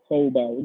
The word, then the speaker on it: Taobao: Taobao, that's how you pronounce it.